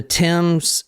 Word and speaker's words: Thames: The Thames in London. Mm-hmm. No, that's correct. You pronounced it correct.